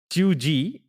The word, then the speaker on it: cheugy: I had what does Chui mean now it's pronounced Chui it's spelled c h e u g y